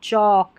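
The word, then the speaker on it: chalk: तो ये हो गया हमारा चालक नहीं पढ़ना, चौलक भी नहीं पढ़ना, चौक। इनमें जो L है ना, ये ऑक करके जब ALK का उच्चारण करें, इसमें L साइलेंट है, चौक।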